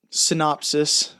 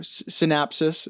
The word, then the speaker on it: synopsis: Yeah, I guess the quick, the quick synopsis or synapsis, is that how you say it? Synopsis. Synopsis. That sounds right.